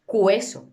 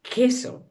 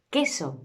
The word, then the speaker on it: queso: Cuando combinamos la Q con la U y la E o la I, la U no existe. No pronunciamos la U. No decimos queso, decimos queso.